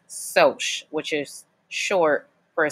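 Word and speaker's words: Socs: soldiers are short for social so it's not pronounced Sauk even though it's spelled SOC s is pronounced soch which is short for a social okay okay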